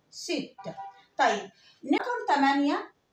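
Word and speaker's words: sept: البي هنا نو سو برونونس با، ما بنطقهاش، بس بنطق التي. هقول ست.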